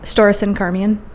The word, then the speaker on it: Storrison-Carmean: Storrison-Carmean. Oh. Yep. Storrison rhymes with Morrison.